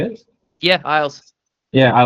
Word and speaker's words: Isles: Is it Isles? Is that how you say it? Yeah, Isles.